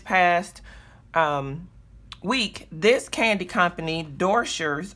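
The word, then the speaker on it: Doscher's: week this candy company door shirts I think that's how you pronounce it do sche r apostrophe s they were featured on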